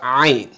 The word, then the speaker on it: ayn: It's all about training, and also we pronounce it from the middle throat. Put this in your mind, okay? Ayn comes from your middle throat. A, okay? Ayn, fatha, a. Stop saying ayn, not a.